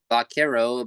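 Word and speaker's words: vaquero: It is because I guess it may be the early Americans had a hard time pronouncing the V, so it came out like a B maybe or something around bakero.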